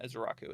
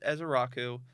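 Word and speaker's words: Ezeiruaku: And I looked up Azaraku. That is the correct pronunciation. Ezaraku. It's not as Iaku is what I was saying first because I was just going. Yeah. But that is Azaraku.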